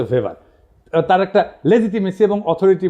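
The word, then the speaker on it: Weber: আরেকজন দার্শনিক আছে ম্যাক্স ভেভার। এটা ওয়েভার বলে অনেকে। এটা উচ্চারণ আসলে ভেভার।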